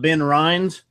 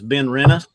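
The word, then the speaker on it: Benrinnes: pour your been Rinna's it's not as it's not been rinds it has been rent us oh I got a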